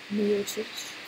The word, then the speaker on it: Miocic: Miocic. That's how I say it in my language, which is close to his language, so I'm going with it.